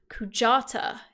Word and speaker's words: Kujata: in final fantasy vii now i'll spell that k-u-j-a-t-a because i might say it differently to how you've ever learned it k-u-j-a-t-a where can you pick up that you know like tequila you're playing seven yesterday